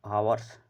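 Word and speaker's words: hours: जज been teaching for आवर्स आवर्स लिखा है इसमें एच साइलेंट होता है और जो वावेल्स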